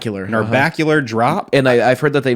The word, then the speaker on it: Narbacular Drop: They worked on a game called Narbacular I've heard it's pronounced Narbacular Drop.